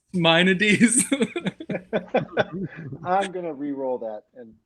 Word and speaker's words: Maimonides: As the classic Greek philosopher Maimonides said, it's I'm- pronounced Maimonides.